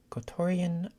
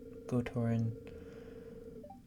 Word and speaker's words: Gotoran: She's a famous Gotorian violinist. Oh wait, that wouldn't be pronounced Gotorian. Gotorin. Okay. I feel like it would be easier to say Gotorian, but Gotoran.